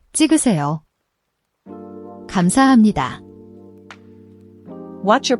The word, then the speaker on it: 감사합니다: The gam has a soft G sound.